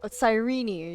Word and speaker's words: Sirene: And before my eyes, that murderer killed Sirene. Sirene, you pronounce the E.